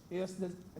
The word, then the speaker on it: ejusdem: When I was at law school, I learned of a rule called the EJUSDEM, that's what EJUSDEM. Pronounced like if the J was an H. EJUSDEM generous rule.